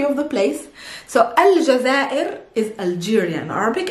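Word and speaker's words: الجزائر: but it works next we have the country jazeer can you guess what is jazeera is algeria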